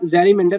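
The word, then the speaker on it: gerrymander: और ये गैरीमेंजर means गैरीमेंडर, जैरीमेंडर basically से हम जैरीमेंडर प्रोनाउंस करते हैं, जैरीमेंडर, तो बेसिकली आपका ये हो जाएगा डिवाइड हो जाएगा।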